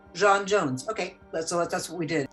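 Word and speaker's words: J'onn J'onzz: Let's make it like the French Jean. Okay, Jon Jones.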